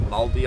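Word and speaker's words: Māori: the Mary culture and it's pronounced maldi I'm pretty sure we're going to find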